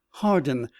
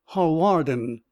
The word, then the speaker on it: Hawarden: not Gladstone and that it was hardened not Hawarden and then he stood